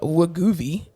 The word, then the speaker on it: Wegovy: But yeah, so the medicine is actually called Wegovy. Wegovy. It's spelled Wegovy.